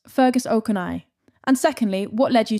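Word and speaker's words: Ó Conaill: Firstly, how do I pronounce Fergus Okana? And secondly, what led you to writing? Well, it's pronounced Fergus Okonnell.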